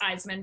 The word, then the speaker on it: Isaman: is m isa n it's pronounced eisman but if you cut it apart it is a man yeah no thank you